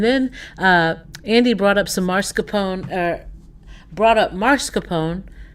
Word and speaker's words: mascarpone: And then Andy brought up some mascarpone. Brought up mascarpone. Mascarpone. It said 3 syllables, so.